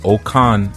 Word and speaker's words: Okan: And what I wanted to speak about this evening was uh this understanding of the okan and okan is spelled o k a n.